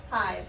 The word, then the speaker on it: hive: Yeah, this is silent e or mommy e at the end of the word.